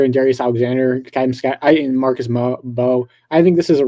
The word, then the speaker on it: Bow: You said Bow. It's Bo. Bo, sorry.